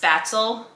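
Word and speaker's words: Spätzle: I think it's actually pronounced Spatzel, I believe, but his family calls it speculin.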